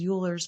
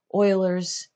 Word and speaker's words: Euler's: number I know it looks like it says Euler's that it is pronounced Euler's usually um but look this up it's cool